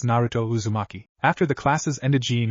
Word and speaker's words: Naruto Uzumaki: in Naruto's name I'm not sure how you pronounce this I'll give it a shot though he thought to himself narat Uzumaki Naruto raises his hand and begrudgingly said it's Naruto Uzumaki after the classes ended Jean and Naruto were